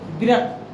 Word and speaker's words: वृत्त: देखो वृत्त का क्या उच्चारण होता है मुख्य रूप से बोलो तो वृत्त, गौरी का वृत्त, लेकिन हम लोग वृत्त बोल देते हैं, कहीं कोई दिक्कत नहीं है, ठीक है।